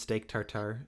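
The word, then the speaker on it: steak tartare: good favorite food is steak tartar is that how you say it i don't don't actually know that is that is how you say it yes all right i don't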